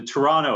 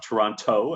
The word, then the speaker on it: Toronto: of this canadian accent the toronto accent is to not pronounce the second t there can be some